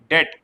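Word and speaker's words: debt: डेट।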